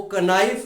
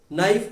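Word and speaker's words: knife: नाइफ को कनाइफ नहीं कहा जाता अंग्रेजी में, ठीक है, नाइफ कहा जाता है, के साइलेंट होता है, आपको पता है।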